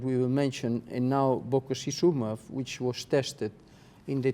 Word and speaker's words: bococizumab: And was interesting, bococizumab.